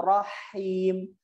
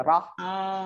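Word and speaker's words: رحيم: Seakan-akan ha yang kedua itu ada sukunnya. Dia nggak ada sukun. Rahim, rahim. Jadi sifat hamas itu diberikan saat hurufnya sukun. Ketika berharokat biasa ha. Jangan udah ngucapin dulu rahim, roh. Seakan-akan ada sukun rohnya gitu. Roh. Enggak roh dia.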